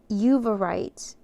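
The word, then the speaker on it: uvarovite: you often right the stones are Golden Barrel uite I'm going to spell that it's u v a r o v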